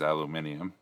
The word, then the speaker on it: aluminium: about aluminium yes because that squiggle there says aluminium and notice the pronunciation i did it right for for you